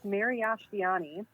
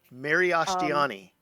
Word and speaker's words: Miriashtiani: It looks really confusing at first, but it's completely phonetic, I swear. It's Miriashtiani. Miriashtiani.